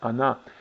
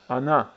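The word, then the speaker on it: она: However, again, Russian word for she is really stressed on the last syllable, and it's pronounced like ana. So on, ana in Russian, while in Croatian it's on and ona.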